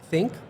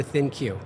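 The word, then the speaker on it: ThinQ: Is it pronounced Think or Thin Q?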